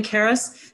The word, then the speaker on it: Karis: to introduce Steve Steven Karis Steven right am i pronouncing your last name correctly you are very good Stephen is a dancer